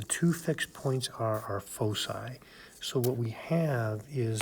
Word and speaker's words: foci: And it's pronounced with an S sound, not a hard C sound. So it's not foci, it's foci.